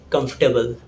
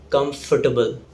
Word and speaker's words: comfortable: Again, in this word we have 3 syllables, not 4. It's pronounced as comfortable, not comfortable. There is no O sound. It's comfortable.